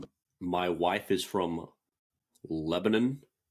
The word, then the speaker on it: Lebanon: to go there, and it was Lebanon. But like you hear on the news, like Lebanon, on the global scale, but it's not. It's Lebanon, and that's how they say it.